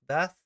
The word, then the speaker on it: Bath: In the Canterbury Tales, that is the wife of Bath, or I believe it's pronounced wife of Beth.